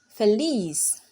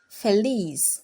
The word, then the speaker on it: feliz: the next word is feliz feliz feliz has two syllables F and it ends with a consonant the alphabet seta or Z in English and so the stress falls on the Le Fair